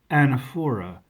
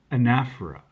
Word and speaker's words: anaphora: If you said anaphora, you're wrong. It's anaphora.